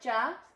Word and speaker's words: ਚ: Jurassic are not jut chart so sound hag yeah check cha I mean that's how you say it cha cha the sound like a CH some journal sound so